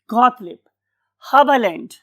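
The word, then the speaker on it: Haberlandt: Got leap, ये दो ये आएंगी इसके अंदर, लीब, गॉटलिब, हबलैंड। इस वाले केस में हम ई आर को आ बोलते हैं, गॉटलिब हाबा लैंड।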